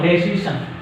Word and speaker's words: decision: Decision. Decision. Decision. Decision. Decision. Decision. Okay, this is ION. Any word ending with the ION takes on second syllable from the end, like confusion, objection, introduction, and decision.